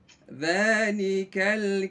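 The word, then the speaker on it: ذلك: Dzalikal kitabu la raiba fihi hudan lil muttaqin.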